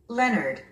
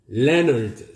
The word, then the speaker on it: Leonard: Leonard. 우리 한국인은 이 단어를 레오나르드 또는 레오날드 이렇게 발음합니다. 그런데 원어민들은요? Leonard. 스트레스가 맨 앞에 있습니다. O가 묵음입니다. Leonard. 남자 이름이죠. Leonard.